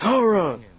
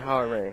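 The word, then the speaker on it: Hwoarang: My team, Ken and Ryu, versus his team of Jin and Harong. Or however you pronounce that. It's Harong! I don't care what anyone says! Harong is way better than Harang. Harang sounds ignorant as hell.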